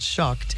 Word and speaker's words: Shucked: It's called Shucked.